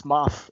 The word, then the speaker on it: Moff: interrupt you, but no, it's Moff. M-O-F-F. Yeah, M O Because F F. that's My a bad. it's a rank in their military, I think. Yeah, And yeah. I have a bad Moth.